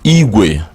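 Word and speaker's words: igwe: we a or in English language you can spell it i GW e i GW e can mean it way which is bicycle Equis say it way one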